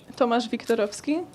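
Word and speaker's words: Tomasz Wiktorowski: How do you pronounce it in Polish? Tomasz Viktorovski. In English, it's Thomas. So It's pretty similar.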